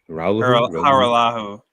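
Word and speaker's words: Hajrullahu: Hajeru Haju Ru Harahu Harahu. Yeah, that's right. The J is not pronunciate. It's like a silent H. Haru.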